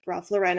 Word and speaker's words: Ralph Lauren: an attempt because I can see given like Ralph Lauren's General aesthetic which I know it's pronounced Ral luren I will never pronounce it that way forgive